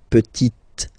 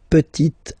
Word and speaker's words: petite: So I insist because here it's t, okay? So really you need to make the difference between the masculine form petit and then the feminine form petite, okay?